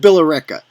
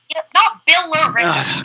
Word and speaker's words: Billerica: So this game's at Billerica. And it's Billerica, not Billerica. It's Billerica. Two Billerica. There's like 5 syllables in there. Come on, stop it.